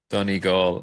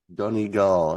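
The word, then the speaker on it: Donegal: of that's right Val Shannon County County Donal Donal that's how you pronounce that Donal okay yeah and goway goway is most Americans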